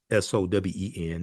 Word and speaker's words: Samhain: So you have Samhain, it's spelled Samhain, but pronounced Sowen.